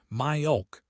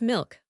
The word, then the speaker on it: milk: Make a sound like in the back of your throat. My-ulk, world. Myulk, okay, so I am creating a little extra vowel sound in there. Instead of milk, one syllable, it almost feels like myulk, two syllables.